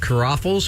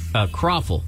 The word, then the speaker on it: croffle: Caraffles? What do they call? Did I pronounce it right? Croffle. Croffle. I guess it's a traditional Vietnamese family that has opened the business.